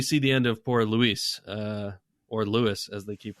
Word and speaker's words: Luis: It should be Luis. Of course. But it's spelled that way, right? And right. And even if it were Lewis, if you're in Europe, it would be Louis.